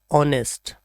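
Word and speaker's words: honest: This word is ऑनेस्ट। अक्सर इसे pronounce करते हैं हॉनेस्ट या हॉनेस्ट, but right pronunciation is ऑनेस्ट।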